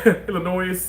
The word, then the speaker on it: Illinois: And I know how to say Illinois. Like, I know the S is not pronounced. Illinois.